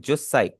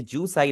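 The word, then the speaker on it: 十歳: Japanese में बोलते हैं जुत्साई ठीक है जुस्साई हम बोलेंगे आपने हमने जसाई नहीं बोलना।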